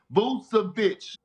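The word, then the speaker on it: Vučević: Can you pronounce it for us real quick? Vucevic.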